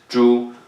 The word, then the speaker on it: 猪: So this part here is called 猪, and then that is how this word is pronounced, 猪.